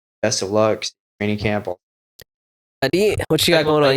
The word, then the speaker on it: Aadit: Aadit, what you got going on? You got fights? Did I say it right? Yes, sir, yes, Aadit?